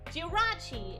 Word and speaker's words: Jirachi: More accent on the ra. Jirachi is what you're saying.